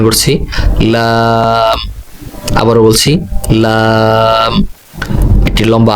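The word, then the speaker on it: لام: এর পরবর্তী অক্ষর আমি উচ্চারণ করছি লাম।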